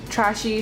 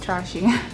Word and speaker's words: Très She: packaging for trash a trashy sorry it's actually pronounced trashing the packaging is just